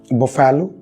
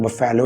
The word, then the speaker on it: buffalo: Buffalo. I know it's not your fault. The fault does not lie in our stars because the spellings say that it should be buffalo, but it's not buffalo, it's buffalo.